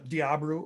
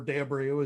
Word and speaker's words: De Abreu: standout but every uh diabro or de abreu as you really pronounce it de leon um clayson